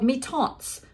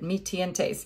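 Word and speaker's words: Mi-Teintes: It's called Mitontes. I used to say it wrong. I said it Mitientes.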